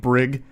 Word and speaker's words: Brig: I knew a kid growing up named Brig. Hard G, which I actually like better, though more likely to be mispronounced.